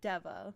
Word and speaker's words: Deva: And this is Deva, like devastation, but like the beginning of the word, that's what they call themselves. Um, they each have like